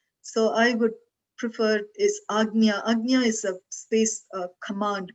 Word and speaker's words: Ajna: Normally, most people write it as AJNA, Ajna, but the actual pronunciation I've come across, and in languages we speak, I'm familiar with, it's Agnya. And maybe Agnya is difficult to pronounce and they have made it Ajna.